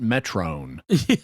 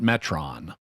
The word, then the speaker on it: Metron: printing everyone pronounces it metron even though the metrons pronounce it metron yeah and and in greek it it would be pronounced metron because that's an omicron not an omega right um the word